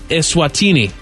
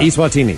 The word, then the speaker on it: Eswatini: announced he's changing the name of the entire country to Eswatini. Eswatini. Eswatini. Little E, big S, Swatini. Yeah. Eswatini.